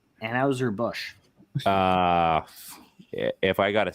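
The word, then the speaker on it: Anheuser-Busch: uh Budweiser sure why not um um it's pronounced anhauser Bush uh yeah if I gotta say that I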